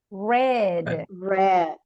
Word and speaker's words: read: But in simple past, the pronunciation is red. Okay, as the color, red.